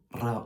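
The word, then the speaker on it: راء: Mais pour prononcer le Ra'un en arabe, il ne faut pas faire vibrer la luette comme on pourrait le croire. Il faut faire vibrer la langue.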